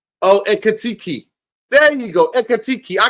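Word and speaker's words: Ekitike: Ikitike. How the hell do you pronounce that name, man? God. Yo, big up, man. How do you pronounce that name? Oh, Ekatiki.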